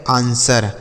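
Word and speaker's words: answer: ई आर इसे पढ़ेंगे आंसर। इसे आंसर नहीं पढ़ा जाता बच्चों। इसे आंसर पढ़ते हैं। ठीक है? यहां पर डब्ल्यू साइलेंट होता है। तो इसे आंसर नहीं आंसर पढ़ेंगे।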